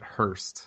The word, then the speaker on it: Hurst: you pronounce that uh you pronounce it hearst hearst okay and then brian